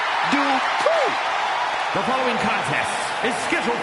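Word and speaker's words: Dupri: Uh, Michael, it's pronounced Dri. The following contest is scheduled for one fall. Making her way to the ring from Phoenix, Arizona, Maxine Dri.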